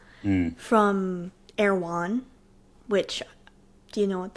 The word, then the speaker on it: Erewhon: And how do you spell that? Awan. E R E W H O N. Oh, I would have never got there. Awan.